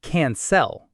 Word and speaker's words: cancel: We don't say cancel with the light clear L. We say cancel. Cancel. Hear that dark back of the throat sound?